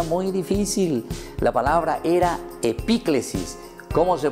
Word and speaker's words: epíclesis: La palabra era epíclesis. ¿Cómo se pronuncia entonces, Melissa, esa palabra?